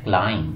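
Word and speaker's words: climb: आगे आगे जी क्लाइंब, तो क्लाइंब नहीं बोलना, क्या बोलना है, क्लाइंब, बी इसमें साइलेंट है, यानी एम के बाद बी साइलेंट होता है।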